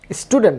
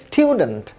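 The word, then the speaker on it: student: যেমন খেয়াল করুন, এই শব্দটি স্টুডেন্ট না, এটা সঠিক উচ্চারণ হচ্ছে স্টিউডেন্ট, ব্রিটিশ উচ্চারণ অনুযায়ী স্টিউডেন্ট। খেয়াল করুন, এই যে উ সাউন্ডটি, ইউ এর উচ্চারণ, তার আগে একটি ইয় সাউন্ড যুক্ত হচ্ছে, স্টিউডেন্ট, স্টিউ, উ তার আগে ইয় সাউন্ড যুক্ত হচ্ছে, স্টিউডেন্ট।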